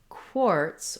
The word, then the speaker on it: quartz: two words is that in quartz, we have the k and w sounds together.